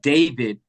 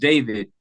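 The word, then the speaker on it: D4vd: brother uh by the name of you you pronounce it David but he spells it D4 v d d the number four the letter V the letter D but it's pronounced David and I first got exposed to one of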